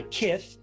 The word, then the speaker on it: Kith: Thanks so much for, and by the way, Kith is spelled K-I-T-H. It's not Mike Tyson saying Kith. It's kind of like Mike Tyson saying kiss.